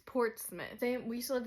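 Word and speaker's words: Portsmouth: thing with like wor like Portsmith looks like it's spelled port's mouth literally it's ports mouth but it's Portsmith same we used to live in fouth when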